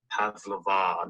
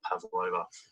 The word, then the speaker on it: pavlova: Another big thing I'd like to get out of the way is it's pronounced pavlova, not pavlova.